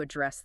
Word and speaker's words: address: right now today to address that weakness. Okay? And let's pause on that word address. It's used very specifically. Stress on the second syllable.